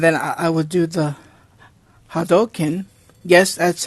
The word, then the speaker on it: Hadouken: I would do the hadoken yes that's how it's pronounced how dolkin I know it sounds it sounds saying Hadouken it's hadoken kind of like saying the satsui no Hado which is the which